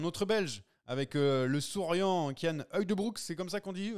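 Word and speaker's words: Cian Uijtdebroeks: Du côté des satisfactions, bah on a un autre Belge avec le souriant Kyan Heugdebroek, c'est comme ça qu'on dit. Alors bonne prononciation, professeur, professeur.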